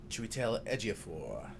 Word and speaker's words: Chiwetel Ejiofor: can never say his name Chiwetel Ejiofor right yeah the very talented african-american actor and